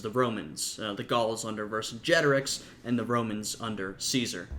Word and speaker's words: Vercingetorix: Though I think Vercingetorix is probably closer to an accurate pronunciation, at least if we're looking at a Roman pronunciation, because the C was pronounced as a hard C, a K, so it probably would have been Vercingetorix, and Caesar might have been